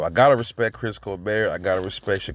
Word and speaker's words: Colbert: people calling chris colbert i'm just in the habit of calling him colbert you know like that guy steve colbert it's spelled the same way and then you hear you hear the ring announcers they call them chris colbert so i'm like okay c-o-l-b-e-r-t i believe that's a french a french name you